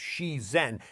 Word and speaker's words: shizen: It's called shizen, pronounced she-zen, and it means naturalness or being in harmony with nature.